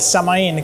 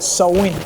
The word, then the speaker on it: Samhain: Es así pues que se crea algo conocido como el samaín, que no se pronuncia de esa forma, en realidad tiene una pronunciación extraña. Es como sain, sain, algo así.